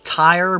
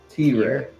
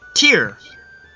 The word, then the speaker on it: Tyre: From the city that is spelled like Tyre, but is definitely not pronounced that way. T-Ray.